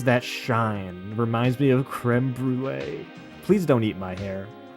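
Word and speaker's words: crème brûlée: You You pronounce it creme brulee. You don't You don't call it cream bulle.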